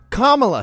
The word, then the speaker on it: Kamala: lotus in Sanskrit used in a sentence it's pronounced Kamala say it right you ignorant Rubes she's going